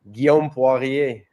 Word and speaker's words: Guillaume Poirier: It's Guillaume Poirier or something like that. Guy, just say it for me one time, man. I'm terrible with names. Guillaume Poirier.